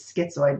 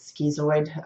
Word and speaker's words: schizoid: this cluster a iota said it was schizoid but apparently he pronounced it skis away which kind of sounds weird I remember the first time